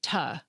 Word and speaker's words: to: For example, the preposition “to” has a weak form that sounds like “tuh.”